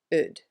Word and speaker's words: Eudes: Eudes Picard, by the way, it's not Eudes or something. It's a really weird and funny French first name, but it's written this way and it's pronounced Eudes. Eudes Picard.